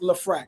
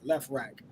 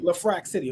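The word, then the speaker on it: LeFrak City: from left rack city lefrac city okay it's pronounced lafrac I know his ass says left rack it's pronounced La Frack City okay so um Nori and Nori's another one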